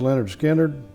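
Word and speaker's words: Lynyrd Skynyrd: holy by led zeppelin leonard skinner pronounced leonard skinner dark side of the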